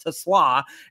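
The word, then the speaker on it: TeSlaa: The last like I I'll be the first to admit the last name looks like Tesla but pronounced Tesla.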